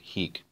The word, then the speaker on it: hic: It's not possible to tell because the texts don't come with these vowel quantity marks. Context tells us, and that's why I pronounce it hic.